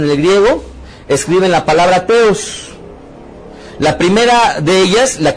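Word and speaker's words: θεός: Pronuncie conmigo con T, Teos.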